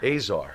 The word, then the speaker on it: Azar: Azar.